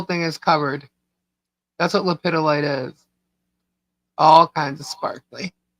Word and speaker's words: lepidolite: It's lepidolite. Lepidolite. It is not Pedialyte. It's lepidolite. Like it's spelled.